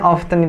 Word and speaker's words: often: Sebenarnya often itu T-nya nggak dibaca, jadi often. Ya, dibacanya often. Often, bukan often, tapi often.